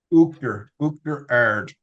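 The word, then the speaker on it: Uachtar Ard: Yeah, Uachtarard, it's called. I thought it was Uachtar, Oughterard, but how do you say it? Uachtarard. So it means like the Oughterard. high cream. Okay. Uachtar is cream, and ard is high. So Uachtarard is high cream.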